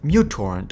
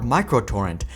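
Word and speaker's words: µTorrent: stylized cursive U, but this is actually a Greek letter called mu. In the computing world, mu usually refers to micro, so you could pronounce uTorrent as muTorrent or microtorrent, and this is actually the case in many countries.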